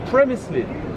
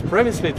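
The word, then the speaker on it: Přemyslids: Because Przemyslids is writing P-R-E at the beginning. The Czech way of saying R is R. So like in Spanish or in Italian.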